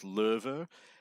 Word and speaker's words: Löwe: I met a Bavarian woman, and I asked her how to pronounce low, L-O-W-E. I kind of knew it was Löwe.